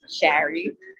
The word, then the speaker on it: Shari: Also, since you're from Long Island, you say it because people are always like, "How do you say your name?" And I'm like, "My parents are from Queens and Brooklyn, so Shari."